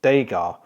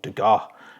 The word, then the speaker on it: Degas: One of the best phrases I've ever come across in painting was from Degas, or Degas, however you want to pronounce it.